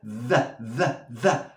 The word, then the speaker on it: the: No the race, no es una D, es una TH, y se pronuncia the.